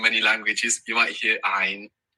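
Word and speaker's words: عين: You might hear ein. So let's talk about the pronunciation of this sound. Now, this sound is not an Arabic A.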